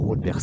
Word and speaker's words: Haute-Bers: On va dire Haute-Bers, on va prononcer le S, comme ça on sait qu'il existe.